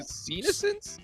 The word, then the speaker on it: senescence: I'm And- trying to pronounce the word senescence. Yeah. Yes. yeah. Senescence? Senescence, like senile.